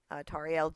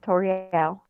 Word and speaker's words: Tauriel: Today I have the lovely Hi Lady, Tauriel, how do you say your name properly before I ruin it? No, you got it right, Tauriel.